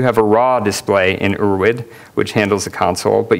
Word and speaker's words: Urwid: in curses does a little differently urd is pronounced urd it's German for ancestral so it's basically ancestral